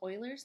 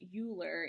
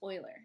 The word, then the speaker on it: Euler: spelling it's not pronounced euler it's pronounced euler so like the edmonton oilers um i drew this graphic because whenever i see the edmonton euler's logo i want to